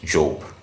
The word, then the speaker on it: Job: But I listened to some sermons of preachers from the West, and I noticed that they used to pronounce the name as Job. So Job seems to be the right pronunciation.